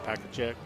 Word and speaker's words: Pechacek: And he's their major speed threat is number 15, Pechacek, I believe is how you pronounce it.